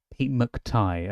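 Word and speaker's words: Pete McTighe: Pete McTai.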